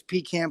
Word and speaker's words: pecan: it's overrated and then my go-to dessert is pecan pie thank you for saying it correctly and